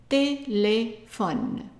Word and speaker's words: téléphone: PH is an F, just like in English. The last E is silent, and we are left with ON, and ON is like English on, like on the table. So, téléphone.